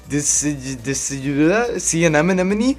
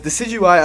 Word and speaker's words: Decidueye: have Decidueye, and now I never knew how to pronounce that name. The first time I saw him in the trailer, I was like, Decidueye, but no, it's not. It's Decidueye, I believe.